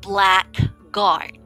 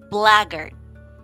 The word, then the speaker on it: blackguard: good what about number four you may be pronouncing it black guard right black guard but it's actually pronounced as blagger okay one more time blagger all right very